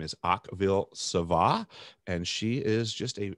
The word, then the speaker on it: Akvile Sava: It's Akvilesava.